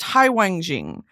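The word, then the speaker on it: 海王星: Neptune is similar, literally ocean king star, pronounced Haiwangjing.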